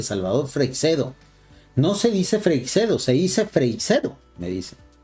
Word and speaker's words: Freixedo: en podcast en audio yo siempre lo he escuchado igual Salvador freicedo alguno le dicen Fray chido pero no sé si eso sea parte de la pronunciación particular de alguna persona normalmente Yo escucho el apellido de Salvador freixeado así Freixedo lo acabo de escuchar